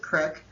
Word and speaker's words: creek: And the pictures to the right are my peace place where I grew up, our creek, we pronounce it crick, in Seatuck in Eastport, New York.